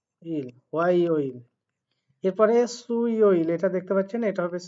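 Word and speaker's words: 수요일: এরপরে হোয়া ইয় ইল, এটার উচ্চারণ হয় হোয়া, ও আ ই ও ইল, হোয়া ইয় ইল। এরপরে সু ইয় ইল, এটা দেখতে পাচ্ছেন, এটা হবে সু ই ও ইল, সু ইয় ইল।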